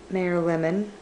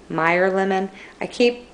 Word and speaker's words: Meyer lemon: And then Mayor Lemon. Oh my gosh, am I saying that wrong again? Meyer Lemon.